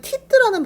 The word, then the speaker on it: teeth: 사실 여기에 을을 이렇게 teeth, 그러면은 teeth라는 발음으로 우리가 인식하기 때문에 발음을 빼고 실제로 영어 발음을 하려면 teeth 하고 여기가 쌍시옷과 쌍디귿 사이에 그 발음이 잔잔하게 남아있는, 조금 남아있는 발음으로 해주셔야 됩니다.